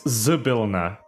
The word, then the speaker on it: Zybilna: It's Zybilna. with S. No, Y. it's Zybilna, not Zybilna. Is how it's supposed to be pronounced, with stress on the second syllable.